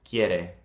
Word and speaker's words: quiere: So quiere, that U-I-E, might be kind of trippy. It's quiere. It's like K-Y-E-R-E. Quiere. Quiere. Quiere. If there wasn't an I there, if it was just Q-U-E, then it'd be que. Que versus kie.